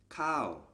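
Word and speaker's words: ข้าว: high class consonant and a high class consonant combined with this tone marker produces the falling tone so this word is pronounced cow we learned in the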